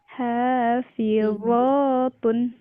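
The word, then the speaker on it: حافظات: Hafitatun Ulangi lagi Bu, mohon maaf. hafitatun Nah, ini huruf uwo, bukan po tapi uwo, ada titiknya. Hafizatun. hafizatun Betul, Masya Allah.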